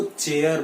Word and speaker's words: chair: R is silent in this, it इज चेयर।